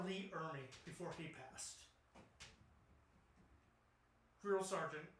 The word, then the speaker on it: Ermey: Lee Emery, yes. Okay. Ermey. Well, that's how it's spelled.